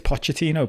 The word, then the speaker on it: Pochettino: I think it's Pochettino, but it's easy to call him Poch.